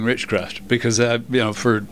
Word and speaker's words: Richcraft: get used to saying richcraft because you know for 3 years I've been calling it The River Building but I'll be be able to remember uh because it rhymes with witchcraft River Building forever well